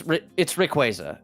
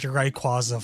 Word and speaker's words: Rayquaza: It's Rayquaza. It's always been Rayquaza to me. I pronounced it Rayquaza for the longest time.